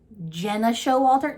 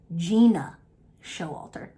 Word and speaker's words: Gena Showalter: This is let me correct myself because apparently, which is a thing, I've been saying her name wrong this whole fucking time. Gena Showalter? No, Gena Showalter.